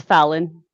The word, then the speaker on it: Fallon: Am I saying her name correctly? I'm horrible about pronouncing names. Yeah, it's Fallon.